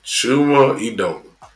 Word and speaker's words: Chuma Edoga: Chuma Edoga.